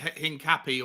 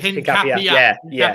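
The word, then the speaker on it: Hincapié: It's Hincapie. I think the accent on the end. Someone corrected me because I was calling it Hincapie or Hincapie, but someone's.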